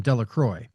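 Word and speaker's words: Delacroix: The villagers pronounced his name this name Delacroy.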